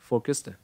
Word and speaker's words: forecast: Forecast. Forecast, đúng không? Forecast. Đấy. Nhấn vào for. Và cái từ thứ hai là phát âm là gì? Cast, đúng không? Hai âm. Forecast.